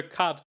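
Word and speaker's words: quatre: It's menage a cat. It's cat with an R.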